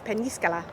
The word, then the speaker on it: Peñíscola: It's an N, not an N, and it's got an accent on the I after the N, so it's Peñíscola.